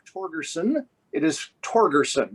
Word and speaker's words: Torgersen: It is Torgersen, correct? Oh, correct. All right. I've heard it pronounced a lot of different ways.